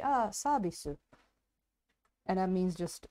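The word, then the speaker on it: サービス: they call it service like the english word service for some reason but in a japanese pronunciation so they say ah sabisu and that means just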